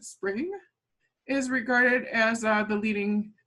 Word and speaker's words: SPRNG: now for parallel codes sprng they pronounce it spring is regarded as the